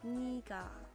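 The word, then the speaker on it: 네가: In order to distinguish the pronunciation of 내가 and 내가 from each other, which technically should be pronounced the same, 내가 is pronounced 니가.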